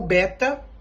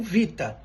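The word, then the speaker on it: βήτα: do tempo como V então o Beta que era do grego antigo para nós é o Vita isso mostra essa transformação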